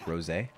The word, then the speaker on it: Rosé: taste a bit like Rosé Ros like the alcohol also Hano thank you